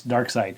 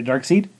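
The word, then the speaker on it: Darkseid: says how to pronounce dark side cuz I kept calling a dark seed because I was reading it outright right and when I edited it back last week I'm like it's not dark seed it's dark side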